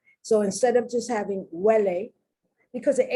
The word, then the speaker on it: huele: Huele, huevo, hueso, huecar, huelga. Do you notice the beginning of the syllable is that what sound, but the H is there because that's the root of the language, okay?